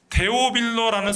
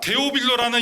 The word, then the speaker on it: 데오빌로: 3절에서 이미 확인한 것처럼 누가는이 복음서를 기록해서 데오빌로라는 사람에게 보내고자 했습니다. 어 데오빌로 또는 데오필로스라고 발음하는이 이름은 어떤 뜻을 가지고 있냐면 하나님을 사랑하는 자 하나님의 사랑받는 자라는 의미를 가지고 있어요.